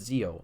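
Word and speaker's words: Zi-O: there's some connection like zo is spelled zi - oh it looks like zo so if you pronounce it zo I have no problem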